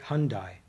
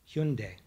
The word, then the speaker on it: Hyundai: We pronounce it Hyundai. I say it's Hyundai. If you are from Korea, it's Hyundai. And I'm sure I botched each one of those accents.